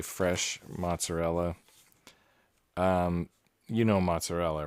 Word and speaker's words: mozzarella: same chemical composition um they don't say fresh mozzarella because that'd be redundant they say fresh moths or they say mootsanel and it's just kind